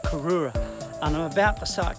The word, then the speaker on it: Cooroora: I found this one Mount Cook ooh karora i think they pronounce it Mount Aurora and I'm about to